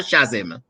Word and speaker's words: chasm: How you pronounce it? It's chasm or chasm?